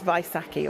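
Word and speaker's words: Vaisakhi: much for that and apologies I mispronounced it's vaisaki obviously right on to our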